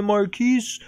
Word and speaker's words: Marquise: e at the end marquis de cat it's because it's it's a female feline cat marquis is basically